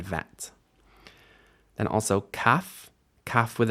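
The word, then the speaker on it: ב: those are those are bets which can be b or v b with a d v without and we might say bet and vet then also CF CF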